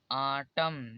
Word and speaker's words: autumn: जैसे देखिए AUTUMN आटम, यहाँ पर MN दोनों साथ ही हैं तो यहाँ पर N कॉमन हो जाएगा तो इसे पढ़ा जाएगा आटम।